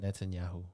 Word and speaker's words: Netanyahu: chamber for n netanel how do you say his name Netanyahu netanyahu's speech that's around half